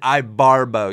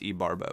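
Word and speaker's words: Ibarbo: talk about as he as he says it I Barbo even though I know it's e Barbo but we're not going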